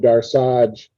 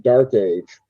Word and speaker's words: Darsaj: coming doom and chaos, I named Darsaj, and the audio narrator went and pronounced it Dark Age, blowing the whole thing.